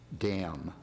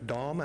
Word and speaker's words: Dahm: My next speaker is Dam. Name is Dahm, actually. It's German pronunciation.